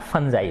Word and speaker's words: fungi: वैसे नॉर्मली हम देखेंगे तो फुंगी बोलेंगे ज्यादातर कोई बच्चा, ठीक है ना, लेकिन ये इसका उच्चारण कैसे होता है, फंजाई होता है।